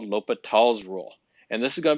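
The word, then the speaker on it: L'Hôpital: That's pronounced L'Hopital's rule. It is French, so we don't pronounce it as El Hospital's rule or something like that.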